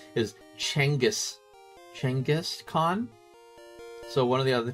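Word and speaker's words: Genghis Khan: Another streamer who is a history teacher was talking about Genghaskhan said the technical pronunciation is Changis Changis Khan.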